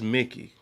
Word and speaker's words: Mickey: Is it Mikey or is it Mickey? that's Mickey. Mickey.